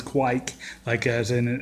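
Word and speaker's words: kveik: at the brew club who's researched how a Norwegian would say it, he says it's kviek, he says like an Australian would say kviek. And so anyways, apparently that's the pronunciation.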